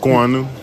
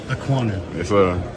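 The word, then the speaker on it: Okuayinonu: What's the best pronunciation of your last name? Ainu. Ainu.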